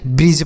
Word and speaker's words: bridge: BRIDGE इसे ब्रिड्ज नहीं ब्रिज पढ़ते हैं।